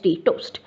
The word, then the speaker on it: TOST: And similarly, toast. Now, A is missing, otherwise it is pronounced as toast only, TOST, equivalent test.